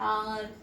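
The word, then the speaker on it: hour: तो हम इसको इसमें बोलते हैं ना कि एच साइलेंट है, तो इसकी प्रोनाउंसिएशन क्या हो रही है, आर।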